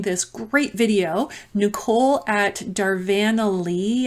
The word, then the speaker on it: Darvanalee: great video Nicole at darvanalee I think is how you say it d-a-r-v-a-n-a-l-e-e Design Studios her and her husband